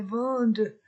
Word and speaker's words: vendent: Ils vendent et ENT ne se prononce pas du fromage.